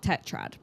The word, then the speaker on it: tetrad: But could you explain to the audience, you know, the dark am I saying it right? The dark tetrad. Yeah, dark tetrad.